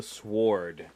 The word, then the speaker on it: sword: The Legend of the sward name the W is silent guy ritchie's returned back